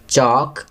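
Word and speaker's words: chalk: नो, यहाँ के silent letter लिखेंगे. चॉक, यहाँ एल लिखेंगे.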